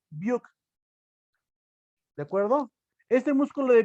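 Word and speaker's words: Brücke: Se escribe buque y se lee Buch.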